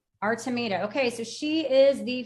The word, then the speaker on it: Artemida: And And the name of your company, pronounce that for me real quick, too, so we know how. Artameita. Artameita.